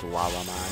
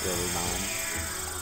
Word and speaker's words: Lalamon: It's Lalamon, not Lalamon. Lalamon.